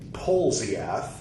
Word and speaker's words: Polzeath: Polzeath, spelled like it sounds.